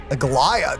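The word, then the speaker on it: Aglaea: the citizens are you ignoring what she said Agia that's how you say her name oh my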